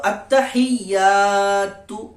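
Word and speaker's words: التحيات: এক আলিফ পরিমাণ টান দিয়ে পড়তে হবে তো আত্তাহিয়াতু আত্তাহিয়াতু লিল্লাহি লিল্লাহি আত্তাহিয়াতু লিল্লাহি ওয়াস সালাওয়াতু ওয়াস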